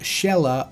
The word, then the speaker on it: Zelha: Throughout the entire game, her name is pretty clearly pronounced Shella over and over and over again. This Shella Zelha situation had me doubting